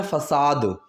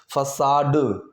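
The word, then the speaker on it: façade: अब यहाँ पर एक वर्ड का यूज़ किया है मैंने, फसाद. The pronunciation is फसाड. ड फॉर ड से क्या होता है, डमरू.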